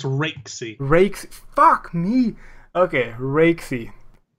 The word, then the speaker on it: Raikesy: It's Raikesy, right? It's not. People say I say it wrong, right? It's Raikesy.